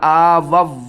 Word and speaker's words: آووا: اور یہاں پر دیکھیں زیادہ تر لوگ کنفیوز ہوتے ہیں کہ اس واو کو پڑھنا ہے یا نہیں پڑھنا. اس کے ہجے کرتے ہیں حمزہ پیش او، اس واو کو بھی ہم نے چھوڑ دینا ہے.